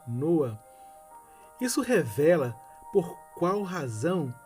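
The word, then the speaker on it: נֹחַ: Versículo 29 não é no hebraico se pronuncia nua isso revela por Qual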